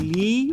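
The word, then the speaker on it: لِ: So, the lam is always pronounced li when it's on any ism, and it's pronounced la on most pronouns.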